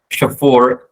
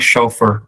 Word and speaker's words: chauffeur: So they want, people should not look for robotic chauffeur immediately. Sorry kalau bacanya salah ya. Itu harusnya chauffeur bacanya.